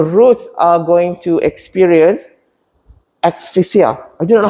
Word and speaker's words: asphyxia: The roots are going to experience asphyxia. I don't know how to pronounce it. You know asphyxia?